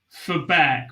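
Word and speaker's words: Verberk: at q school so it's m-a-i-k-e-l which is pronounced michael and then for back which is v-e-r-b-e-r-k that was a tough one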